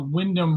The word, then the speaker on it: Wyndham: By the way, Josh, it's Wyndham Rewards. That's how you pronounce it.